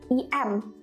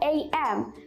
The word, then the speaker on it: AM: Indonesia, some of Indonesian people still have a mispronunciation about this because they always say like EM, 6 EM. No, actually not EM. But AM, karena itu dari dua huruf, A sama M, AM.